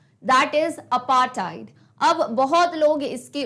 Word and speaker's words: apartheid: इट इज अपार्थाइड, अपार्थाइड. Okay, तो it's like अपार्थाइड, अपार्थाइड, अपार्थाइड. तो इट्स not like अपार्थीड, थ वाला sound नहीं आ रहा है. इट्स अपार्थाइड, ये इसका प्रोनाउंसिएशन है.